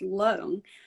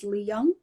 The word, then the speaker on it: Leung: for me, I remember my surname Leung is actually pronounced Leung, but when I was in primary two, which and in Scotland it's so you're about 6, 7 years old. The primary school teacher um, pronounced my surname as Leung, and ever since then